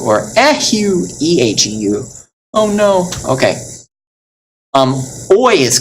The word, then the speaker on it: eheu: If you feel bad, you could say Heu, Heu, U, or Ehu, Eheu.